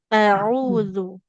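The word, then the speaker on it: أعوذ: Jangan tapi auzu. Nah, jadi jelas pengucapan Hamzah dengan ainnya.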